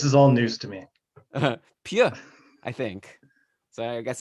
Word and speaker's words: Suter: learned today that Pius Suter, that's not actually how you pronounce his name. Apparently, it's Pew or Pew, like, and like the S at the end is silent.